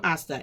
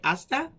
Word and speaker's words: hasta: we have hasta manana hasta the same asta h-a-s-t-a asta space manana manana m